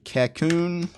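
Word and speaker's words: Kakoune: yeah the text editor I believe it's pronounced cocoon it's a weird name a lot type and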